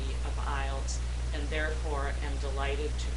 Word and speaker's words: IELTS: Well, it stands for the International English Language Testing System, and as you've already heard, we pronounce it IELTS.